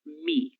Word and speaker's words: me: Por isso que a gente utiliza esse nosso pronome reflexivo me, que no português falado as pessoas falam mi se fosse um mi, certo?